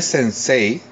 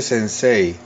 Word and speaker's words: sensei: sí y si no se escribe sensei candy66 pero se escribe y se dice sense mucha gente dice sensei pero no es en sí y sobre todo mucha